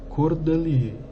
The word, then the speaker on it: Cordelier: meio pronto o nome Cordelier. Então vocês ouçam como é que se fala isso aqui, ó. Cordelier. Tá? É assim que se pronuncia em francês.